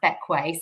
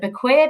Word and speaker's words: Bequia: So, first things first, um, how to pronounce Bequay. So, a lot of people pronounce it bequer, but it's actually pronounced bequay despite being spelled like bequer.